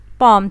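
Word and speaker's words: palm: طيب بعد كده البالم تري، او في ناس تنطقها البالم تري بس هي المفروض ان ال سايلنت، بالم تري.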